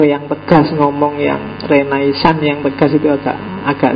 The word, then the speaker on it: renaissance: istilah dalam bahasa Prancis bacanya agak sengau belakang yo kalau orang Indonesia sih enggak suka istilah sengau itu biasanya renaisan yo renaisan kalau orang Prancis sendiri belakangnya mesti agak hilang renaiss jadi kalau kita nirunya